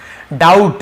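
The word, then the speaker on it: doubt: डाउट, यहाँ पर भी बी साइलेंट है, डाउट पढ़ेंगे, डाउट नहीं पढ़ेंगे, ठीक है।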